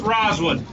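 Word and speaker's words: Rozwood: sir i'll spell for it's r o z's and zebra w o o d is in david it's pronounced roswood obviously you do a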